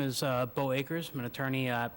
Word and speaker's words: Beau: Akers, and my name, Bo, is spelled Beau.